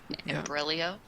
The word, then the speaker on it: imbroglio: An imbroglio? Imbroglio, yeah. Big word. Yeah, yeah, that's I think it's Italian. There's a silent G in there.